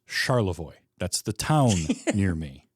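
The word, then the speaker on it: Charlevoix: So, I don't say Charvoiris because it is Charavoy.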